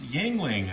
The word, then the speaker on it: Yuengling: Some Yuengling beer. Yes, Yuengling. I was told that's the proper pronunciation for it.